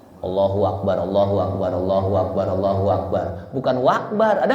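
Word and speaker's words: الله أكبر: katakan Allah Allahu akbar hati-hati bacanya Allahu akbar hu Akbar bukan nanti kalau tercepat allahu akbar allahu akbar allahu akbar Ada apa J di baca pakai bukan hu tapi pakai apa wa allahu akbar allahu akbar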